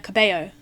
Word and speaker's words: Cabello: Like Camila Cabello, but her name's spelled with 2 L's instead of a Y.